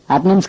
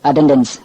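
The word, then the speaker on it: attendance: Divorce கிடையாது divorce identity card கிடையாது identity card institute கிடையாது இன்ஸ்டிடியூட் அட்டனன்ஸ் கிடையாது அட்டென்டன்ஸ் சிவிங்கம் கிடையாது சுவிங்கம் இதெல்லாம் நாம திருத்திக்கணும்.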